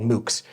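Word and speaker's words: MOOCs: there's a free massive open online course called mukes um how do you spell that m o o CS but you can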